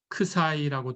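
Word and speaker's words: ξ: 자, 그 점을 우리가 그리스 문자로 크사이라고 둘까요? 예, 이거는 크사이입니다. 그리스 문자. 예, 발음 기호는 읽을 때 크사이 이렇게 읽으시면 됩니다.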